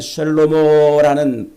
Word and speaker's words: 쉘로모: 이렇게 쓰는 거예요 그래서 솔로몬도 원래는 쉘로모라는 발음인데 그게 이제 헬 표현으로 솔로몬이라고 이렇게 발음을 해 놓은 거예요 그런데 그 솔로몬이라는 말이